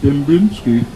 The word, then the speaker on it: Debicki: came from polish aristocracy wanted his name pronounced dimbinsky and viewed being at